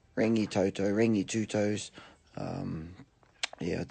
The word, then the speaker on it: Rangitoto: dot dot all right on the radio yesterday I heard a woman pronounce their place is with a extra a denoted two A's in it so she said ring no toto anyway you were just running a ring a Toto rangitoto ring you two toes